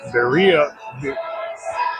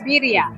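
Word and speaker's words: birria: We've had the birya, which we were pronouncing biria. Yeah. But it's birya.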